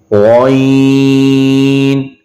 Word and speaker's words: غين: عين عين غين غين. So here's the another one of the Mustalia letters. So we have to pronounce this letter as well as a thicker voice.